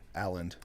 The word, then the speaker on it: Aland: How do you pronounce your last name? Alland. Why were you saying Aland? I always I said like Alan.